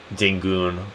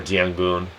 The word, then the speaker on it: Daengun: Actually, I think it's actually pronounced uh Dingon or Dangon. It's probably Dangon. That's how it's pronounced, but I call it Dun.